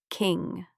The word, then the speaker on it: king: King parking do not say G at the end.